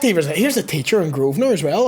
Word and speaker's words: Grosvenor: The Grosvenor.